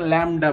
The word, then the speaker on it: ল্যামডা: সো এটাকে আমরা যে নতুন যে সাইনটা দেখতেছো এটাকে বলা হয় ল্যামডা, গ্রিক অক্ষর এটা। সো অনেকে অনেক রকম উচ্চারণ করে, এটা কিন্তু ল্যামডা বলে এটাকে।